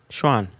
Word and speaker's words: Chuan: h u a n Schwan it sounds like Schwan like San right yeah like San for the province yeah okay so perno records the Schwan Distillery is in Sichuan